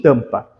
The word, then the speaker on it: tampa: aqui aluno a palavra tampa possui cinco letras beleza como é que eu pronuncio tampa se liguem que esse M aqui nada mais nada menos que é um indicativo de nasalização então eu pronuncio ela